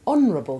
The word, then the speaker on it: honourable: I ask this question to demonstrate an exception to a rule and to introduce silent H. First, the rule. When the letter H begins a word and is followed by a vowel, or by the letter Y when acting as a vowel, it is the simple sounded H, except in the words honour and honest, and words derived from the same root,